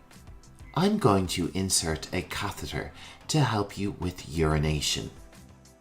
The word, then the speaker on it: catheter: need our next term is tricky to say catheter catheter let's try it one more time catheter a catheter is a tube that can be